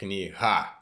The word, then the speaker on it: kniha: So I noticed Kniha. It's h sound.